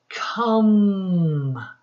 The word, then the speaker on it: come: in, am, two, The E is silent, boys and girls. We stop at the end and we stretch this O. Come.